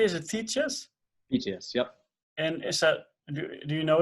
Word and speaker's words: Thetius: Do I pronounce it correctly? Is it Thetius? Thetius, yep.